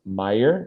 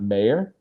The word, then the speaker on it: Meyer: It's pronounced Meyer, not Mayer.